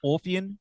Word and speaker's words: Orphean: Of course, the new Evergrey album, A Heartless Portrait, the Orphean, is it pronounced Orphean Testament?